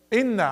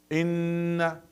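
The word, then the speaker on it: إنَّ: Inna, in. Okay. One of the common mistake, a lot, see, when they pronounce the inna, they close their lips. That's wrong. Why you close your lips for inna?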